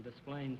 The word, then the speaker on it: Des Plaines: From Des Plaines, Illinois. Des Plaines, Illinois? I'm glad you're here. Now I know how to pronounce that name and not get my skull